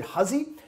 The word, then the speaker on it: Hussey: harlan hussey looks like hussey was a german everywhere pronounced it hussy and just like anyway